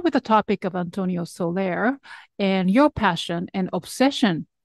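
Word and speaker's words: Soler: are deeply passionate about the music of Antonio Solair am I pronouncing okay absolutely right so for listeners who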